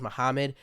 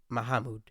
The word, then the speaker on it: Mahmoud: And I wanted to pronounce that right because I thought it was Muhammad, but then I watched videos and like looked up something about looked up just while looking up about it. It's not Muhammad. I think it's Mahmoud Khalil.